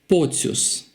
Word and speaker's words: Pocius: So it's soft C-I-U. It's soft U. If we have this I-U, we pronounce as Ciu. So Pocius, Pocius. So usually this kind of surnames, the endings are pronounced softly, like Pocius.